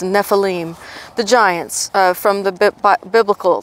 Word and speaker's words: Nephilim: Nephilim actually is the Hebrew pronunciation of that Hebrew word. Actually, I'm trying to change the way I say it. It's Nephilim, the giants from the biblical thing.